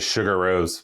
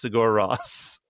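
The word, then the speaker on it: Sigur Rós: I always just pronounced it Sugar Rose. Sugar Rose. Friend of Sugar Ray. No, I believe I don't know who pronounced it to me like that, but I'm pretty sure it's pronounced Sigor Ross.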